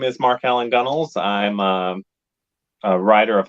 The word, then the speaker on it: Gunnells: the authors in that collection uh Mark Allen gunnels I hope I pronounced your name right that is correct okay